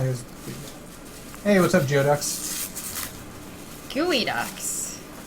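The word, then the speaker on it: geoduck: Gooey Ducks. Uh, it's spelled Geodox. It's definitely gooey ducks. And I know that you know that it's gooey ducks.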